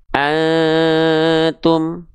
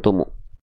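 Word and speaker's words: أنتم: ditambah am Jadinya apa Antum Antum Antum Ah gitu ya Jadi dibacanya tu ditambah am jadinya Tum bukan tuma bukan Tumi bukan tumu Oke lanjutkan lagi teman-teman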